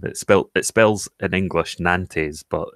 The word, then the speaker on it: Nantes: It spells in English Nantes, but it's pronounced Nantes.